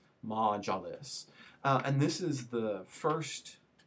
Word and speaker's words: Majlis: the first legislative body, which is pronounced Majlis, right? And it looks a little bit, so if you were going to spell that out, it's going to be pronounced M-A-H-J-L-I-S, Majlis.